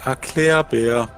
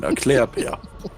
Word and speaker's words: Erklärbär: Mach den Erklärbär. It's basically you should explain. It's called like explain bear. It rhymes in German. Erklärbär.